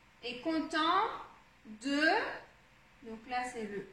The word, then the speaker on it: content: et, comme ça, et, content, content, on, donc encore le on, content, là c'est le en, donc le en, c'est souligné comme ça, content. Donc on a deux sons nasaux dans le même mot, content.